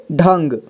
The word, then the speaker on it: ढंग: ठीक है अगला देखिए यहां पे ढंग लिखा हुआ है ढ में अं की मात्रा है तो इसे ढंग पढ़ेंगे इसके बाद ग ठीक है इसे ढंग ढंग मतलब होता है तरीका